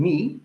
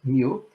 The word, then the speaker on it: mu: this barrier parameter me you've noticed that i pronounced this letter um me not like many people do not mu but this is in fact a greek letter